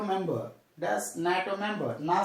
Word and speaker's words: NATO: Abbreviation, but pronounced as a word. We have to take only sound. And dash NATO member. Dash NATO member.